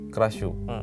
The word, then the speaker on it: Krasue: Krashu atau dibacanya Krashu, spellingnya Krasue.